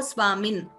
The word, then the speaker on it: Swamin: Swamin, again here there is a halanta, therefore Swamin. If there is no halanta, we chant it as na. Because there is a halanta, we chant it as Swamin.